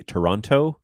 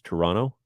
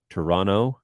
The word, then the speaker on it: Toronto: you pronounce the city Toronto you're doing it wrong uh you don't pronounce the T you run the N into the O so it's Toronto Toronto no okay Toronto if you want to